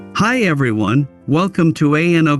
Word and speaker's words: ANO: Hi everyone, welcome to ANO Camera, pronounced Ano.